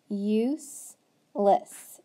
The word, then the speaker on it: useless: Sneaky E word, so that U is long and that E is silent. So useless, useless.